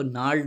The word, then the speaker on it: gnarled: अब देखिए, ही डिड not care much about the ओल्ड gnarled peculiarly formed gods usually favored by collectors. नार्ल का, इसको जी यहाँ पे साइलेंट होगा, नार्ल पढ़ेंगे तो ट्विस्टेड और रिंकल्ड, यानी